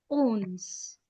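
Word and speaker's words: onze: 11 is owns.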